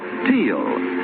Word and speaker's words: Teal: And for lovely smiles, it's T-E-E-L, Teal.